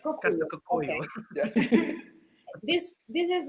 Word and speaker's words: Casa Kokuyo: What about Katakakuyo? Did I say it correctly? The name of the animation company. Yeah, You're kind it's quite Casa Cocuyo. yes. Casa Kokuyo.